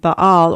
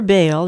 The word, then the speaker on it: Baal: to the temple of Baal, or Baal, is pronounced either way, in this segment and